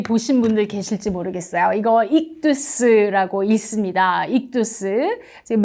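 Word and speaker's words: ἰχθύς: 이거 익두스라고 있습니다. 익두스. 지금 맨 위에 있는 건 영어를, 그리스어 발음을 영어로 표현한 거고요.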